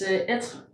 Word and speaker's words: Être: It's Être. Okay. Yeah. Oh, so it's kind of you don't pronounce the last e.